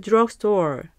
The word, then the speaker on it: drugstore: 이때 발음을 U처럼 drugstore 해주시기 바랍니다. Where is the nearest drugstore?